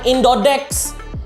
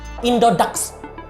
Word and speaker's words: Indodax: Indodax ya, bacanya bukan Indodex. Mentang-mentang A dibacanya E, dibacanya Dex. Enggak, Indodax. Udah ikutin aja Indodax.